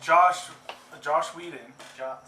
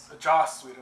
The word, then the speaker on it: Joss Whedon: Josh Whedon. Joss Whedon. I already pronounced his name. The H is silent.